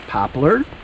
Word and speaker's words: popple: a heavy smell of Popple trees or you might pronounce it popler in the air to